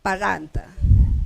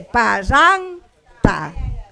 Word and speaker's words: parranta: ¿Qué cosa voy a mirar? Este, la segunda sílaba. La segunda sílaba. ¿Cómo es la segunda sílaba? Es cerrada. Es cerrada. Ya quiere decir que como es cerrada, es pesada, debe jalar el acento de pronunciación. ¿Obedece o no? No obedece. Obedece. Sí obedece. Parranta. Entonces, como obedece, no necesita tilde. Okay.